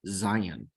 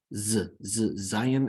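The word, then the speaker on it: זין: Next, we have Zion. Zion as in zebra. All right, so here it is. You'll notice the difference between Vav and Zion is that Zion has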